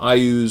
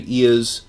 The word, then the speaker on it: Iuz: which was known as, sometimes they call him Iuz, sometimes you may hear me say Iuz. It's spelled I-U-Z.